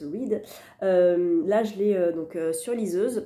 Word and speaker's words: Reid: Les 7 maris d'Evelyn Hugo de Taylor Jenkins Reid, donc Reid, je pense que ça se prononce Reid.